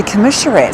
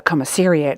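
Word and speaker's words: Commissariat: In Brisbane, I mean, the Commissionerat Store. I never seem to get this pronunciation correct. I meant the commaseriad store.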